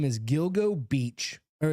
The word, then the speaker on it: Gilgo: G jiglo. How do you spell it? G i l go Gilgo.